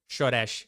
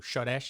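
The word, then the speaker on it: שורש: Shoresh is how you say this in Hebrew. Shoresh, it means root, and it uses a root system.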